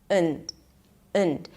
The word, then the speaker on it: and: Now, when this word is unstressed, I completely reduce the vowel there, and instead of pronouncing the and, I just pronounce it as und.